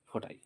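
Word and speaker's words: ف: বাট এখানে পার্থক্যটা পার্থক্যটা কোথায় পার্থক্য হচ্ছে নুক্তা ফোটাই দেখ সেম কি দেখতে পাচ্ছি যে উপরে একটা মাত্র ফোটা ফোটা আছে এই লেটারটাকে বলব ফা এটার নাম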